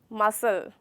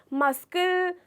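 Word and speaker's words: muscle: बाद सी आ रहा है मैम, तो ये मस्कल क्यों नहीं बोला जाता? वो इसलिए नहीं बोला जाता क्योंकि वो उसकी गलत प्रोनाउंसिएशन है।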